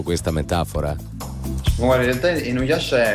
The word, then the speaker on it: Inuyasha: Inuyasha, l'ho pronunciato bene, Ale, questo Inuyasha. Inuyasha, sì.